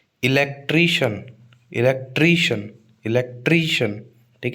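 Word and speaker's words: electrician: इलेक्ट्रिशियन। इलेक्ट्रिशियन इलेक्ट्रिशियन। ठीक है? तो शन और ट्री ठीक है आप स्पेलिंग देख लो सी आई एन शन बोल रहे हैं तो टी आर आई पे स्ट्रेस आएगा इलेक्ट्रिशियन मैजिशियन मैजिशियन ठीक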